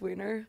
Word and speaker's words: Wiener: So your name is pronounced Wiener, not Weiner. Yeah, unfortunately, yeah, it's Wiener.